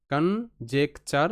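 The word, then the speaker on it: conjecture: একটা পার্ট পাবো আমরা কন দেখো কন লেখা কিন্তু রয়েছে কন কন নয় কান নয় মাঝামাঝি একটা সাউন্ড যখন তোমরা এডভান্স লেভেল প্রোনাউন্সিয়েশন করবে তখন কিন্তু দেখতে পারবে। তো এডভান্স লেভেল প্রোনাউন্সিয়েশনে কিন্তু সি ও এন কান এরকমটা হয়। কান জে ই সি জেক জে ই C check কানজেক টি ইউ আর ই চার চার কানজেকচার কনজেকচার কনজেকচার ওকে নেক্সট শব্দ এখানে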